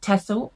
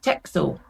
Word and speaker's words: Texel: I sometimes pronounce it Texel, I sometimes pronounce it Texel. They are a Dutch breed of sheep, I believe, and I believe both pronunciations are actually okay.